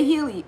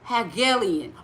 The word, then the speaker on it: Hegelian: So now you're finna make me say Helian. Alien. Alien. Alien. Dialect. Alien. Alien. She breaking it down for me, y'all, phonetically, right? Try it with 2 G's. Okay, Hegelian. Oh, okay, Hegelian.